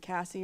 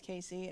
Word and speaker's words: Casii: spelled weird, it is, he did say it right, Casey. There's been some talk about is it Cassie or Casey. It is Casey, and I blame my dad.